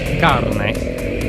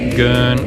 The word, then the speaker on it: Gaerne: And yes, it's pronounced Garnay, not Gern or Gay-urn, as most of us have been saying for years.